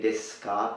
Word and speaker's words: desu ka: But here, we simply say desu ka, su, ku, suku, desu ka. We don't really say desu ka, but we say desu ka. And that's because it is found towards the end.